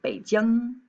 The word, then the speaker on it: Beijing: i would suggest that in terms of these g sounds at the end it's kind of like a little bounce right so when you're pronouncing the capital of beijing you should say beijing all right language note